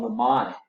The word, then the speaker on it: mnemonic: So this is called mnemonic, but it starts with a what? M. So M is silent.